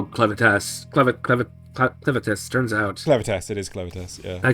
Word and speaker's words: Clevatess: Clevatess, it is Clevatess, yeah.